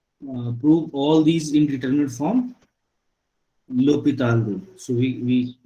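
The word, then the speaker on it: L'Hôpital: L'Hopital rule. So we call this, we write as L the spelling is L hospital, but we pronounce this L'Hopital. L'Hopital. So it is L'Hopital rule, not L hospital rule.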